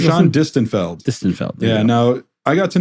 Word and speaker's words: Distenfeld: How do you pronounce Gershon Distenfeld. Distenfeld.